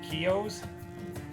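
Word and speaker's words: Kiyo: Two Razer Kios. Is that how you pronounce it?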